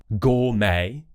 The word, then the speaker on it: gourmet: So, for example, ballet, gourmet, and buffet, where we're going to do an A sound and we've kept the kind of French style pronunciation.